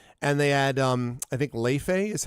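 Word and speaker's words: Laufey: Last year, they had Nora Jones there, and they had, I think, Leife is how you pronounce it.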